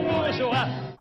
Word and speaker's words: bourgeois: In bourgeois, the S is silent and the E is only here to make a soft G. This way, it sounds like je sound instead of g sound. There are two syllables. The first one is bourg with the ou sound and a French R, bourg, bourg, bourg. And we have joie, joie, like joy, la joie.